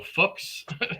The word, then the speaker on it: Fuchs: He said it's like books, but with an F, so Fuchs.